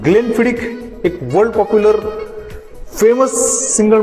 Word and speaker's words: Glenfiddich: से करते हैं, मतलब लोग इसको ग्लेनफिडिच बोलते हैं, कुछ लोग इसको ग्लेनफिडिस बोलते हैं। फ्रेंड्स, इसका जो करेक्ट प्रोनाउंसिएशन है ये है ग्लेनफिडिक, ग्लेनफिडिक।